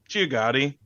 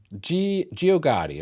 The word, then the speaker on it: Geogaddi: How do you pronounce the album name, Mark? Geogaddi. Geogaddi, right here.